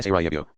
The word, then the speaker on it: Sarajevo: It is pronounced something like Sarajevo, with a faint accent on the second syllable, and a short E.